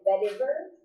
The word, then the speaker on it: vetiver: There's also one I think it's called Serenity, and vetiver, is how you say it.